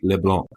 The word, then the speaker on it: LeBlanc: And so Canadian Public Safety Minister Dominic LeBlanc, that's how they say it up there, Dan.